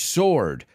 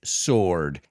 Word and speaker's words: sword: We say it's a double-edged sword. And if you noticed, I didn't pronounce the W. I don't say sword, I said sword.